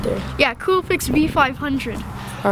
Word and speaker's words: Coolpix: the Nikon Coolpix B500. I think that's how it's said, right? It's right there. Yeah, Coolpix B500.